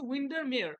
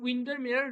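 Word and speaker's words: Windermere: এন্ড উইন্ডার mower railway ঠিক আছে এটার হচ্ছে উইন্ডারমেয়ার ঠিক আছে ডব্লিউ আই এন ডি ই আর এম ই আর ই উইন্ডারমেয়ার railway ওকে তারপরে তোমাদের উইলিয়াম ওয়ার্ডসের লেখা দ্যা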